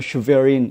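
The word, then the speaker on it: Schwerin: 헌터 바이든의 동업자, 아주 오랜 동업자로 알려져 있는 에릭 슈어린, 이 사람인데요. 뭐 독일식 발음으로 하면 슈베린 이렇게 되고요.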